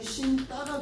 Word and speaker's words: 신다: 예를 들어서 신발을 신다라고 하면 발음이 신따가 되잖아요. 근데 이거는 뭐야? 아 어간 받침 니은 뒤에 나는 된 소리니까 된 소리 뒤 규정에 해당하는 거야. 그러니까 표기는 된 소리로 안 쓰는 거야.